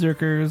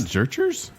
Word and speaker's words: Zurchers: teal turquoise morph suit point of order it's pronounced zerkers is zerkers yes I hate the name it's like hug head it's not zerchers zerkers zerkers huh change your name